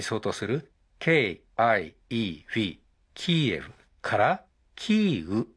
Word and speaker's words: キーウ: 開始した後日本政府やメディアの多くはウクライナ語の発音に近いキーウに変更しました軍事進行している側のロシア語の発音に基づいているキエフは適切ではないという